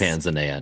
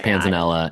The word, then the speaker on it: panzanella: Yeah, but it's like Italian, so it's probably Panzanella, right? But then could be Panza. I've never heard it pronounced Panzania. No, I'm going with Panzanella.